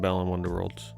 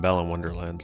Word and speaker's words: Balan Wonderworld: have still not played Balan Wonderworld? I think I just called it Balan Wonderland, like everybody freaking does. I think it's the most like mispronounced name in the history of games.